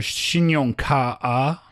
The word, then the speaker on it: 信用卡: Are you using two syllables there? 信用卡啊? No, 卡 is one syllable.